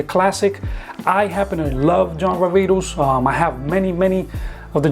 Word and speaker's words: John Varvatos: The correct pronunciation is John Varvatos. So John Varvatos from John Varvatos, as I've mentioned before.